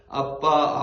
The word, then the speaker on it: 아빠: 우리 마음 가운데 보내사 아빠 아버지라 부르게 하셨느니라 아멘 우리는 하나님을 아빠라고 부릅니다이 단어는 한국어 번역이 아닙니다 히브리어에서 우리말 아빠와 똑같이 발음합니다 아빠입니다 우리는 하나님을 아빠라 부르는